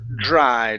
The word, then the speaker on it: dry: to the word dry so here instead of saying dry okay a Jr sound okay so instead of saying dry it's Dr dry try that dry dry